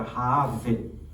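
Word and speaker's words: רחב: A Raabe em hebraico era Raave, com V-E, né? Porque o hebraico ele não pronuncia o B, né?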